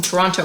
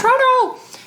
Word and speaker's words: Toronto: People watching at fancy malls in Toronto because we're from Toronto. And it's pronounced Toronto, not Toronto.